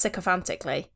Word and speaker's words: sycophantically: No, I'm pretty sure it's pronounced sycophantically. Is that pronounced? Is that Psy? I presume so. Sycophant. That's with an S.